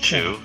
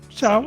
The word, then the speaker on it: Chou: uh it's chiao but I think some people pronounce it Che I think both work but I I I my family calls it Chia Chow okay it's Chow so if somebody called you